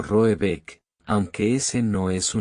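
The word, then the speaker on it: Råbäck: Pronunciado algo así como Roebeck, aunque ese no es su nombre.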